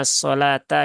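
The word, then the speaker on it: الصلاة: yaitu di asalata ya ini dibacanya asalata ya Ee jadi wunya ini dia tidak di baca ya walaupun kalau secara penulisan di bahasa Arab kalau bukan di ayat Quran ya Ini menggunakan lam alif ya tapi kalau di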